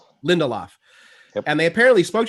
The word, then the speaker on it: Lindelof: Lindelof. Lindelof.